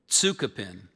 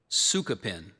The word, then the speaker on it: tsukupin: So here's the one that I gave you initially. Tsukapin. There's also Sukapin. Can you repeat that again? So there's Tsukapin and Sukapin.